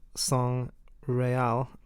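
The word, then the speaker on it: Sang Real: the holy grail but if you move the g over s-a-n-g and then r-e-a-l song real i might be butchering pronunciation means royal blood and i think that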